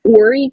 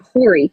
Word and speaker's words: Horry: Just like our county is actually Horry County, but it has an H in front of it, so out-of-towners will call it Horry County. It's just the way they pronounce things here.